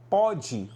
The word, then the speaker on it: pode: Pôde, você tem ali ó, um O fechado. Pode, você tem um aberto, tá?